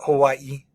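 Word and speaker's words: Hawaiʻi: like so we've got Hawaii um you should put like a an emphasis there at the end Hawaii um and Maui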